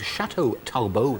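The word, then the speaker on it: Château Talbot: that in Spanish it's a very expensive French wine called Chateau talbo they call it there it's like 25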